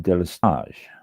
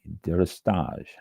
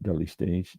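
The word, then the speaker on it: délestage: It's pronounced deis. D E L E S T A G E Dage, not daily stage, deris.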